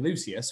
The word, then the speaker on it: Lucius: the show has been lucius falling asleep and so it seemed the most inevitable and natural thing in the world especially because the name scans lucious two syllable strato two syllables it wasn't doing any